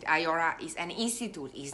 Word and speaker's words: IIORA: IIORA, IIORA, I pronounce it IORA, is an institute, is not a Reborn Artist Guild.